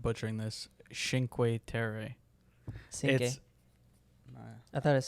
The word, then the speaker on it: Cinque Terre: Yeah, well, she definitely pronounced it wrong. Never mind. Yeah, I think it's Cinque Terre.